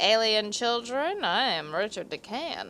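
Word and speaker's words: Richard de Calne: And from what I read, I thought that it was supposed to be pronounced Richard de Can, like the L is silent.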